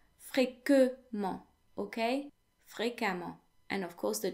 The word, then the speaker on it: fréquemment: Fréquemment, fréquemment, which translates to frequently, fréquemment. Now, the E before the two M's in fréquemment is actually pronounced as if it were an A.